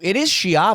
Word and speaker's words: Schiavi: It is shy, right? Is that the correct pronunciation? It's technically shy, but if you say in Italian, it's okay.